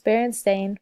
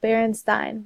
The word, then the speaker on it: Berenstain: The correct spelling is Berenstain with an A, but many people, including myself, remember the books being spelled Berenstein with an E.